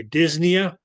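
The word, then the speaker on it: dyspnea: then Nia there okay when we say this near is going to be this the p is silent and then near did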